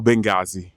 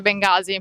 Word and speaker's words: Bengasi: Bengasi e fermi. Bengasi o Bengasi? No, in realtà si dice Bengasi, però io ho sempre imparato Bengasi, quindi per me è Bengasi.